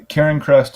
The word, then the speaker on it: Cairncrest: the way yeah so if you just uh Ken Crest is spelled c a i r n c r